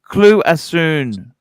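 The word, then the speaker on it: Cloisonné: Cloisonne. Cloisonne. I like mispronouncing.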